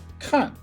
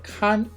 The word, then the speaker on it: 看: we're about to learn has two different pronunciations khan and khan this character is composed of nine writing strokes as shown here in the animated image when it is pronounced the fourth tone cut it means to look to see to watch or to visit when it is pronounced the first tone khan it means to monitor or to supervise the part of a